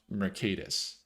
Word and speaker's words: Mercatus: It's pronounced Mercatus.